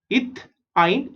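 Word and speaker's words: ethyne: ETH is eth and AN is ane. Right? इन तीनों में देखोगे first 3 letters are same, eth, eth, eth, and the last 3 letters are different. यहाँ पे AN is ane, EN is ene, and YN is ine.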